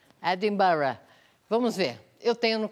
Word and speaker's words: Edinburgh: A pronúncia, você notou? Edinburgh. Edinburgh.